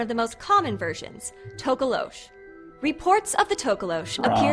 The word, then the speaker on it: Tokoloshe: At least she's including the correct pronunciation. I mean, What is the correct one again? Tokoloshe.